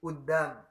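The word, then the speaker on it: قدام: Nah, kudam itu pelafalannya menjadi udam.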